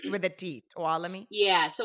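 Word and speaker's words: Tuolumne: time in my tiny little town it's called talami and uh so people can barely even pronounce it let alone have heard of Itami like but it's with a talami yeah so it's a Native American name and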